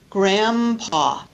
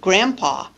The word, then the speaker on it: grandpa: n d consonant cluster I'm making it more similar to the P because remember that P is a bilabial consonant and so is M